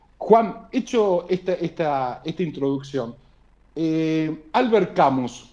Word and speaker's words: Camus: Juan, hecho esta introducción, Albert Camus, o Camus, como se pronuncia, ¿fue un futurólogo con la obra de La peste de Albert Camus?